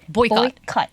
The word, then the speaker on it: boycott: 근데 앞부분을요 오 발음 보이콧 boycott.